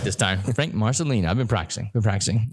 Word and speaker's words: Marcelino: yeah I said it right this time Frank Marcelina I've been practicing been practicing I know I'm